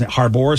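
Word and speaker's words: Harbour: for I always been I've been saying David Harbor's name wrong for some reason I thought it was Harbor so a listener corrected me it's David Harbor he was good when he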